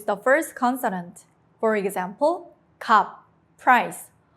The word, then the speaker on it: 값: For example, 값, price. Only 비읍 is used.